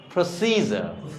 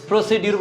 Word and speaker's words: procedure: প্রসিজার। প্রসিজার, প্রসিডিউর বলতে কিছুই নেই। প্রসিজার, প্রসিজার, যখন আমেরিকান ইংরেজি তখন প্রসিজার, এটা ক্লিয়ার।